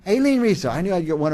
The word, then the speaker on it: Aileen Rizo: And our next guest, I'm going to say it wrong, Aileen Rizo? Aileen Rizo. Aileen Rizo.